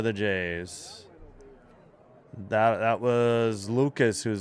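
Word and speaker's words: Lukes: That That was Lucas who's 0 for two. No, it's spelled L U K E S, but it's Lucas.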